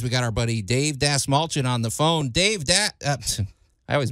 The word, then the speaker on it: Dastmalchian: All right, you guys, we got our buddy Dave Dastmalchian on the phone. I always mispronounce his name. Dave Dastmalchian.